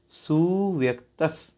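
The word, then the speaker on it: सुव्यक्त: स्व संवेदन स्व संवेदन सु व्यक्त सु व्यक्त ठीक छोटा उ की मात्रा है इसलिए खींच नहीं इसको सु व्यक्त सु व्यक्त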